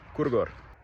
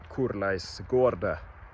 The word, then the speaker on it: korleis går det: it a little differently We say Kor det går That’s not even the correct way to say it The correct way would be to say Korleis går det That one is a